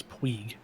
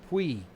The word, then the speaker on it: Puig: okay the way i've the way i've heard that last name pronounced is puig puig okay what am i saying pug yeah okay of course